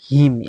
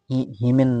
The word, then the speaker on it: hymn: তারপর হিম, HYMN, হিমেন না বলে এটাকে বলবো হিম বা বন্দনা বা স্তুতি।